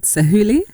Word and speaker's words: Sahuli: And you have a song called Sahuli. Yeah. Is that how I you say it? You said it right. Sahuli?